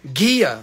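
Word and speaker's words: Ghia: i a girl G how do you say that gear but it's not ghee like butter gear I don't know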